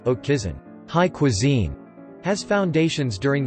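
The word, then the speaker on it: haute cuisine: exploration by christopher columbus oak cuisine pronounced oak kison high cuisine has foundations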